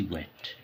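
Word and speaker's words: weight: से इंतजार करना और डब्ल्यू ई आई जी एस टी वेट वेट माने वजन इसमें जी एस साइलेंट होता है वेट नहीं होता इसका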